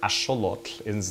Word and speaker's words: axolotl: freshwater crustaceans they were eating axolotl or Asha look-ins the original pronunciation which are a type